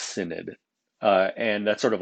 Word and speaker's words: synod: it with something called a holy synod that's pronounced synod uh and that's sort of like a council